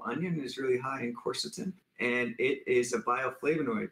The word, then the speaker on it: quercetin: have heard of quercetin am i saying it right quercetin you can say my patients say that i call it quercetin i don't know who's saying that right but i i call it quercetin and a lot of my colleagues call it that but it doesn't matter